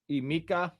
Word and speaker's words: Emeka: Emeka. It's a Mecca, right? So he also mispronounced his first name.